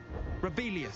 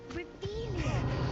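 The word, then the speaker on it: Revelio: Revelius. Saying it wrong. Reelious.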